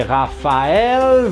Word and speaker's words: Raphaël: Bahan Eh cadel Peas kombinasi pas itu berbunyi F foto seperti halnya dibasahi nggris nah Lalu ada a di situ kalau teman-teman pernah tahu tentang lezak song juga Atlantis itu berbunyi yaitu dijatuhkan diamnya Liga Sugandi bukan yang ini adalah terima titik dua di atasnya adalah tema nah dia